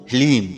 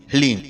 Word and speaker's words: ह्लीम: ध्यान से सुनिए, ओम ह्लीम। जी हाँ मित्रों, मंत्र को एक बार आप फिर से ध्यान से सुनिए, ओम ह्लीम। इसमें हा, ला और बड़ी ई की मात्रा और अंक की बिंदी, ह्लीम। यह है माता बगलामुखी का बीज मंत्र।